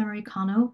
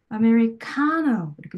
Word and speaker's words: americano: 이 부분의 강세를 제대로 아메리카노 이렇게 좀 길고 강하게 발음을 해주면 원어민들은 자신들이 항상 이런